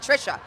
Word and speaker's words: Trisha: Tricia, right? Am I saying it right? I didn't screw anything up. Tricia. Trisha.